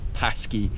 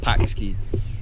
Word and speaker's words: Pakse: And now we're going to head to a small town 3 hours north of here called Pakse, or Pakse. It's quite hard to pronounce, P-A-K-S-E.